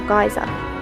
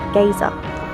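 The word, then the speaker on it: Geysir: In English, most people say Geyser or Geyser, but in Icelandic, it's pronounced more like Geyser.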